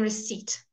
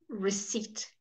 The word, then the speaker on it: receipt: go raspberry raspberry okay and then receipt receipt you don't say received nobody does not even English people not